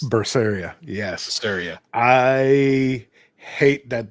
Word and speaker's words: Berseria: so this is another name that's hard to pronounce Tales of berseria I think it's berseria yes berseria I hate that they censored this